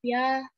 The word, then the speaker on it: ja: question, kita bisa jawab ya atau tidak. Nah, di sini tulisannya kan ja ya kalau pelafalan Indonesia, tetapi kalau di Jerman kita bisa bilang ya.